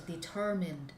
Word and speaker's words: determine: right the middle okay the syllable stands in the middle that is determine please